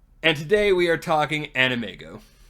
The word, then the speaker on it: AnimEigo: today we are talking animego I have been saying animeo for the longest time until I found out I've been saying it wrong it is what it